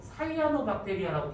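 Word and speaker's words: cyanobacteria: 얘 같은 경우에는 이따가 좀 더 얘기하겠지만 요즘은 이거를 사이아노박테리아라고 발음하는데 나는 싫어. 시아노박테리아라고 할 거야.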